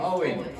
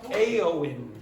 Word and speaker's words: Eowyn: how pronce the name the name Owen no it's not it's aen a okay so could you